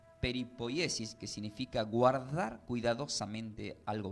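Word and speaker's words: περιποίησις: Y hemos aprendido que esta palabra del griego preservación significa, se pronuncia como peripoyesis, que significa guardar cuidadosamente algo valioso.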